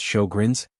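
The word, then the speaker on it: Sjögren's: Sjogren's, pronounced show-grins, is an autoimmune condition.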